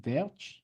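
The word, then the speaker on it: Welch: Think as Dutch, they pronounce W as V, Verch.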